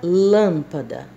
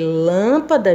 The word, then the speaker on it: lâmpada: Então, quando eu vou pronunciar a palavra lâmpada, eu verifico qual é a sílaba mais forte. Lâmpada. Lâmpada. Então, o lã está sendo pronunciado mais forte.